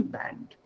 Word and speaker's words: Band: of course but since it's a word which has been borrowed from outside of german use the original pronunciation band so she came into